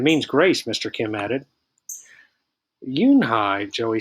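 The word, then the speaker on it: Unhei: turned to joey she nodded slowly yes it's pronounced yoon hai and it means grace mr kim added yoon hi joey said slowly and this time perfectly it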